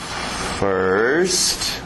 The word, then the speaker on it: first: Mas aquele som de water, sister, girl, bird.